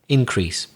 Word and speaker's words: increase: are decrease and increase so if they're nouns we again just like conduct stress the first syllable decrease and the opposite increase for example we've seen